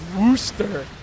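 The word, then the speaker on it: Worcester: no one is guessing warchest is pronounced Wooster hate ketchup and I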